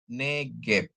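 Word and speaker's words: נֶגֶב: Gmail dan bet ya Nun dikasih segol ya bacanya ne gimel dikasih segol bacanya ge ditambah bet tanpa dages jadi bacanya negep Ya neep negep itu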